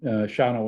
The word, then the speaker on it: Shawano: from my days in Shawano, Wisconsin, not spelled like it sounds, named Dick Karth.